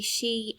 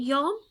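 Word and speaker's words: 四: pronounce that number so number four can be she and yon and number seven can be shichi or nana for our ages we use shi and shichi so we don't need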